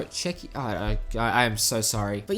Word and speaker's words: Czechia: Thankfully, the country's split in two, because the how do you pronounce that? Czechia? No, Czechia.